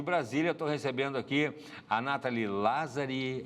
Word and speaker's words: Nathalie Lazzari: Estou recebendo aqui a Nathalie Lazzari. É essa a pronúncia, Nathalie?